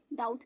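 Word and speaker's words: doubt: जैसे बहुत बोलकर कमेंट भी होता है ना डाउट दी ओ यू टी डाउट देखिए यहां का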